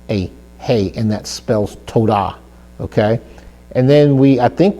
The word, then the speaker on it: Todah: For thank you is Todah. Todah means thank you, and that is spelled with a Tav and then a Vav. A Vav there gives the Tav letter a O sound, like we've already talked about this before.